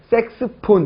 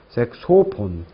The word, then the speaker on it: 색소폰: 자, 그 다음에 오 발음 주의하시는 거. 다이아몬드, 딜레마, 레미콘, 미네랄, 색소폰. 예를 들어서 색스폰 이렇게 하는 경우도 많아요. 그죠? 색소폰.